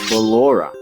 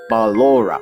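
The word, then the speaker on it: Ballora: have Aura okay and this is how you say balora balora you see this is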